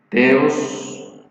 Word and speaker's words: theos: Entonces, teología, como sabemos, viene de dos términos griegos: teos, T-H-E-O-S, teos, que también se pronuncia theos, ¿verdad?, que es el término Dios, se traduce como Dios.